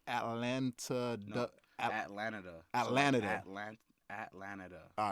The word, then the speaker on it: Atlanada: pronounced it wrong. Yeah, yeah, yeah. Trip, but yeah, it's just Atlanada.